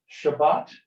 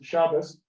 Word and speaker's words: Shabbat: In Ashkenazi, this was T and this is S. So if someone says Shabbat, okay, that's fine. Someone says Shabbos, happy Shabbos, same thing.